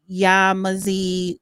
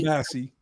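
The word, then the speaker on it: Yamasee: Yamazi Goulli Guli, black as car tires, Yamazi, and I I know I'm probably saying the name wrong. Sorry. Yamasi Yamasi war 1715 to 1717.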